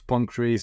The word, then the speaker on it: Pancrase: Ils disaient, ouais, nous on fait du pancras. Après, la fédération se prononce Pancrase, donc je sais pas.